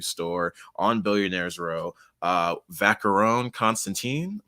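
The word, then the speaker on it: Vacheron Constantin: on billionaires row uh vacarone constantine pretty sure it's how it's said i've shown you before that the only reason i know that is from rap songs honestly so until yesterday i probably would have said vacheron but i was watching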